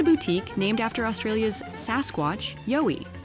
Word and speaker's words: YOWIE: Just a boutique named after Australia's Sasquatch, YOWIE. It's pronounced Yowie, mate.